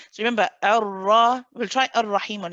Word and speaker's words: الرحيم: want to hear he, go straight into the kasra so that I can hear you say he. I don't want the sound at the beginning, the bit. I don't want that prolonged. Okay? Ar-Rahim, Ar-Rahim, Ar-Rahim. الرحيم. Him. حيم. Straight for the E.